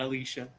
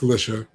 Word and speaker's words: Alicia: Yes, is how she pronounces it. Don't come at me. It's not Alicia. It's Alicia.